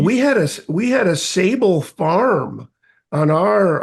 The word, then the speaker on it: Ausable: assab oh assab um it's French you know a sable um which means I think we're the where